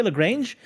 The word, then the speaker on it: Lagrange: you go by his name which is lagrange or you completely butcher it so yeah you know it's like you can say lagrange you can say lagrange you can see lagrangian which is the most correct thing it's also like